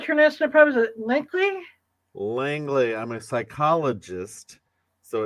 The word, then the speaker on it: Langley: of Spiderman uh doctor Travis how do I pronounce her National problem is it likely Langley I'm a psychologist so it's Spider-Man psychology but